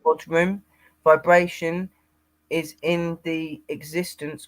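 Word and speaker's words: bodhrán: pronounced bodhrum.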